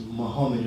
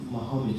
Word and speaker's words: Muhammad: and his actual he he actually would have wrote his name different it would have been pronounced as Muhammad or Muhammad or Muhammad but not muhamed so it was actually